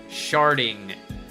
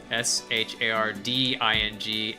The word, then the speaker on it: sharding: You may have heard of something called sharding, which is spelled S-H-A-R-D-I-N-G, not T, sharding, with a D, like shard.